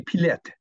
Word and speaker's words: Pilette: It'd be Pilette.